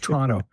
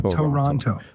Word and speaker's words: Toronto: Hopefully we can get a Can I know how I pronounce it correctly? Toronto. There's two syllables, not Toronto.